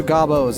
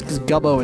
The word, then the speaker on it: Gobbo: And I know they're Gobbos. It's Gubbo. It just sounds funny.